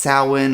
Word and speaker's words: Samhain: Now it's spelled S A M H A I N like Samhain but it's actually pronounced sow-ween.